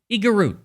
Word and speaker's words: Igorot: You pronounce it Igorot, and it means letter, epistle.